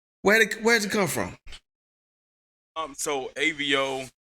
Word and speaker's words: Ayvio: I didn't want people to say like Avo or Avo or anything like that. So I threw the Y and the I in there so you can phonetically say it.